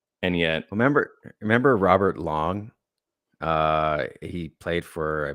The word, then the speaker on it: Lang: were like oh Robert Lang and he's like H it's it's actually pronounced long and then people started